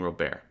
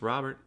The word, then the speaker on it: Robert: and I keep saying robear I'm sorry Luis Robert I know it's it's spelled Robert it's pronounced Robert but when I first